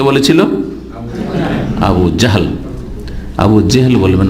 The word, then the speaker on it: আবু জাহল: জি, আমাদের দেশের লোকেরা আবু জেহেল বলে, এমনকি সাধারণ লোকেদের দেখা দেখে আমাদের দেশের বক্তারা ওইরকম ভাবে বলে জেহেল। অন্তত আলেমদেরকে, বক্তাদেরকে শুদ্ধ উচ্চারণ করা উচিত। কারণ আপনারা সবাই আকামা বলছেন, তো আমিও কি আকামা বলবো নাকি?